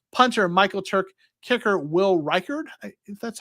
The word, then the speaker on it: Reichard: of Western Kentucky punter Michael Turk kicker will Reichard that's how it's pronounced in linebacker D Winters right so uh